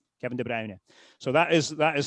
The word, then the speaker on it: De Bruyne: world would have been Kevin de Brer de you know the the the color brown. For some reason it became De Bruyne. And I don't again I don't know if that's because people looked at that name and thought it looks like De Bruyne but it's not.